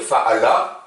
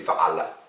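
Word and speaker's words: فعل: Si vous n'arrivez pas à la dire, ce que vous faites, c'est que vous interrompez un peu de votre voix, comme s'il y avait l'hamza, l'apostrophe. Vous pouvez dire fa'ala, ça ira. Mais c'est fa'ala.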